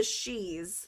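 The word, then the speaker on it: Sidhe: So one is called the Shis, spelled Sidhs, and they are actually the fairies.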